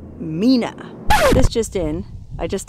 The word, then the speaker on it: Mina: Pretty sure it's pronounced Mina, not Mina.